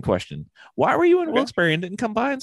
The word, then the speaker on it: Wilkes-Barre: Why were you in Wilkes-Barre and didn't come by and say hi?